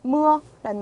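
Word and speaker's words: mưa: 우의 쉼표였으니까 이거는 아니까 근데 그렇게 발음을 하지 않고 어떻게 한다? 으어로 발음을 한다. 그래서 예를 들면 아주 많이 나오는 단어. 왜 이 단어가 많이 나오는지 지금 알 것 같네요. 무어라는 말 비라는 뜻 또는 비가 오다라는 뜻의 단어거든요.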